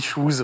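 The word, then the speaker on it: Chooz: que tu le prononces correctement parce que ça s'écrit pas comme ça au début donc ça sécrissit h o Z j'ai dit chous voilà désolé pardon habitants de Ch dans les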